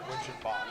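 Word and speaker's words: Winchenbach: Yeah, winch and back. Amy? Yes. You pronounce it winch and back or winch and bach? Winch and Bach. Bach. Yep. Okay, so it's a bach.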